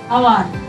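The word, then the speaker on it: hour: না সো ফর অ্যান আওয়ার এইচ থাকলেও আওয়ার উচ্চারণ হচ্ছে তাই অ্যান হলো ফর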